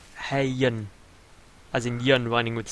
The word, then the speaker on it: Hyun: by on the we we should be pronouncing hayan as hayyan as Indian Running With The Sun um I've called him iron for all of times